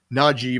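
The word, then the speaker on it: Najee: clarify how his name is supposed to be pronounced naji by the way not not j so anyway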